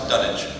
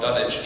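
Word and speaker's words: Dunwich: would like to think he pronounced a dunich because that's Al Pro is that the British pronunciation uh because the likelihood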